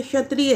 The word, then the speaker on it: क्षत्रिय: जैसे क्षत्रिय है, इसको हम क्षत्रिय भी बोलते हैं, क्षत्रिय बोलते हैं। और इसका जो प्रोनाउंसिएशन किया जाता है वो क्या किया जाता है, छतरी करते हैं कुछ लोग। यानी कि क्षत्रिय, जो क्षत्रिय हम बोल रहे हैं वर्ड, उसको छतरी बोला जा रहा है।